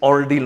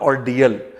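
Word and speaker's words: ordeal: एंड it's pronounce is ऑर्डिल, नॉट ऑर्डियल, ऑर्डिल।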